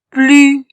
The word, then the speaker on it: plus: Mais ici, il y a le voyelle U, lu, plus. À la fin ne se lit pas.